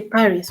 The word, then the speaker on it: Paris: will pronounce it however but they will not pronounce the s is a consonant so